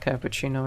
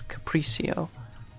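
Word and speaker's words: capriccio: I'm so funny CU it's not cappuccino in fact it's capricio but I'm pronouncing it as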